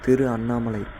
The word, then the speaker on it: திருவண்ணாமலை: கரெக்டான ப்ரொனவுன்ஸ் பார்த்திங்கன்னா திரு அண்ணாமலை அப்படி தான் நான் கேள்விப்பட்டிருக்கேன். பட் ஆனால் நாள் போக்கில் யாரோ வி ஆட் பண்ணிட்டாங்க. வி ஆட் பண்ணது திருவண்ணாமலைன்னு ஆயிடுச்சு.